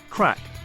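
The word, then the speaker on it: craic: that you ask well it's pronounced like crack but it's not what you might be thinking in Irish crack means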